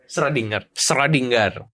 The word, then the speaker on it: Schrödinger: Schrödinger sendiri bacanya gimana? Schrödinger.